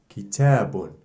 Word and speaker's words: kitabun: Ba with two Dammat is pronounced bun. For example, kitabun, ki, t, ta, ta, b, bun, kitabun, a book.